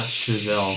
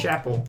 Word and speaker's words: Chazelle: She said his name like Chappelle. She pronounced it horribly. Chappelle, not Chazelle. Chapel. That bitch.